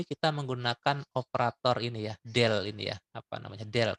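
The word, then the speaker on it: ∂: kalau di sini kita menggunakan operator ini ya, del ini ya, apa namanya? Del kita bilangnya. Jadi membacanya adalah ya U diturunkan 2 kali terhadap T sama dengan C kuadrat itu konstanta ya.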